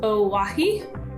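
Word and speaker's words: Owyhee: how those two are the same but it's pronounced owahi there you go okay this next one's not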